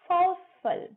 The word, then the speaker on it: forceful: Very strong को बोलेंगे forceful, not forceful. फ आओ स फ ल, forceful. र भी साइलेंट रहेगा और अ भी नहीं आएगा। Forceful.